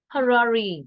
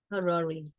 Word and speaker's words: Harare: Harare, we pronounce that way. Harare.